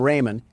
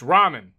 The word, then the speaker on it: ramen: Door Dash is on its way to deliver some Raymond, and I don't want to spill any around the pyramid floors. Uh, it it's pronounced ramen.